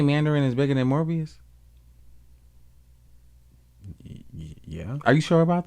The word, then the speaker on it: Morbius: And then maybe Morbius, is that how you say it? Morbius.